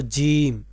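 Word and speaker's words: ج: আসুন দেখি, এই মাঝখানে যদি নুক্তা থাকে, তাহলে এর নাম হলো জিম। এর নাম কি? জিম। এর নাম জিম। আমার সাথে যদি উচ্চারণ করেন, তখন আপনাদের উচ্চারণটাও শুদ্ধ হয়ে যাবে।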